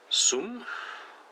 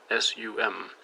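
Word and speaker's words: сум: But don't know how to pronounce it correctly though, but Sum? S-U-M. So yeah, not that this is a Russian class, but I'm pretty sure the C in Russian is pronounced like an S.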